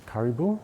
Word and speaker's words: karibu: It's Karibu, yeah.